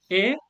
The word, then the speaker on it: et: Et. I don't join them together. The T is silent.